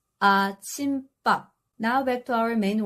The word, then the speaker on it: 아침밥: And this one isn't 아침밥. It's 아침밥.